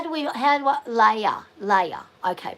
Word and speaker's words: Leia: Leia. Okay, pronounce Leia. As in Princess Leia.